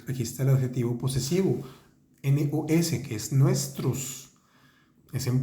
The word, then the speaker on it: nos: Fíjense que aquí está el adjetivo posesivo, NOS, que es nuestros, es en plural, nuestros, se dice no, y se escribe nos.